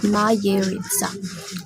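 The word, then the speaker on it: Μαγειρίτσα: Next is Mayeritsa, pronounced as Mayeritsa, is a unique Greek soup made from the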